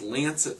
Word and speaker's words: Lancet: There was I believe this is pronounced Lancet study in the UK, and they looked at how alcohol is compared to all these major hard drugs.